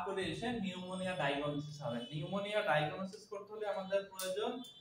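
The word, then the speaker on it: pneumonia: হচ্ছে নিউমোনিয়া এটা হচ্ছে পি পি এন ইউ এম ও এন ই এন নিউমোনিয়া নিউমোনিয়া হচ্ছে ল্যাটিন শব্দ এইজন্য এন টা উচ্চারণ আমরা করি নিউমোনিয়ার এন কিন্তু তার উপরে ইন যুক্ত থাকে ঠিক আছে সবাই বুঝতে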